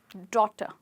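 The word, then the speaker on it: daughter: है ए Yeezy H और इसको हम बोलेंगे डॉटर और हमारा लास्ट वर्ड है टू ओ यूजी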